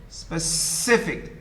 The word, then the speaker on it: specific: is the second syllable it is not specific it is specific specific the second syllable is the one is stressed uh by the way